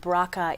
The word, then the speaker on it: BRCA: want to make sure that everyone understands that bracha is spelled BR CA which stands for breast cancer